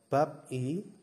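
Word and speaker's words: 밥이: OS yang ketiga ada Bab i Bab i ya tulisannya adalah Bab i dibacanya babi yang keempat adalah Muko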